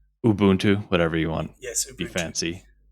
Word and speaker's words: Ubuntu: It's and it's not even pronouncing that Ubuntu.